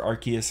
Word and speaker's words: Arceus: a chuckle we also have the God himself Arceus or Arceus however you want to pronounce that I say Arceus it just sounds better we also have lugia